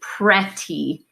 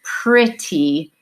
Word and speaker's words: pretty: at it and you would want to say Preti because it looks like that's how we would pronounce a short e because it's an old English word the pronunciation is actually pretty and you've probably heard that word something that